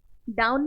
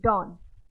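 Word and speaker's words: done: ठीक है क्या है डन डाउन नहीं बोलेंगे इसको डन क्लियर ए के साथ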